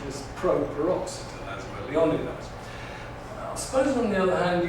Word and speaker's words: Leonidas: in the film well I said there are three possibilities suppose ing you were to take the English the British line. Well, we call him Leonidas. The accent is pro peroxid as well. Leonidas suppose on the other